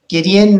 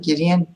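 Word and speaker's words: גדעון: nice Joseph next one Gideon it's it's just VOD then you pronounce the yud like the Y value foreign there you go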